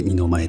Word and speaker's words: 一: いきましたえ漢字の 1 という字を書いて二の前と読みますえ場所は恵比寿